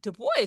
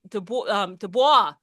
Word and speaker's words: Du Bois: Du Bois, which he's an Anglo pronunciation of his French last name. And I hear so many people saying Du Bois.